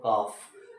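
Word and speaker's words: calf: एफ क्या पढ़ते हो इसको आप पढ़ते हो काफ अब बात आती है कि दो हार्ड साउंड आ रहे देखि एल क्या है हार्ड साउंड है और एफ क्या है हार्ड साउंड है और मैंने आपको बोला था इन दोनों कंडीशन में ये लेटर कभी भी एक साथ आए पहला वाला साइलेंट होगा इसी तरह से वही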